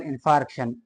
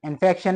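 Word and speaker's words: infarction: एक डिजीज है के उसको कहते हैं मायोकारार्डियल इनफार्क्शन इनफेक्शन नहीं इनफार्क्शन ठीक है इसमें फर्क है स्पेलिंग में भी फर्क है और प्रोनाउंसिएशन में भी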